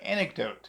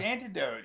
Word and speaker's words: anecdote: I mispronounced the word anecdote. Yeah, yeah. As antidote.